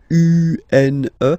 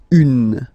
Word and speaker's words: une: Then the feminine article is here, and it's easier because if you have this U-N-E, then you pronounce it une, une. Okay, masculine, feminine form, une, une.